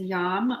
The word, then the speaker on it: YAM: the heart chakra is yum why am it looks like yam but it's pronounced with a long a and I had been